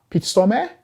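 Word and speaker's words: Peter Stormare: guy in it it's played by peter stormer peter stormer that's how you pronounce his name and you know i've seen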